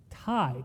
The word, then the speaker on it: Thai: And he was like, "I want thigh food." I was like, "What?" Like, "Thigh food?" I was like, "Tai t i e is how you say it."